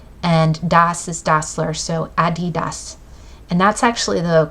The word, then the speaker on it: Adidas: nickname is Addie and Das is dler so Adidas and that's actually the correct pronunciation I always say Adidas and and then